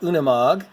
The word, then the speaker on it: Unimog: by Lambo we do so it is pronounced Unimog I googled it and did the translation and that's how they pronounced it so this one I